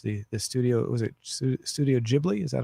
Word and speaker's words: Ghibli: The studio was it Studio Ghibli? Is that how it's pronounced? It's Studio Ghibli.